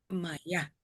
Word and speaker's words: Maya: Dice Rachel, Maya se pronuncia con acento en la A final. Mm. Maya.